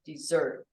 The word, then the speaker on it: dessert: desert and then dessert the accent is on the second syllable dessert the first one desert good sorry that one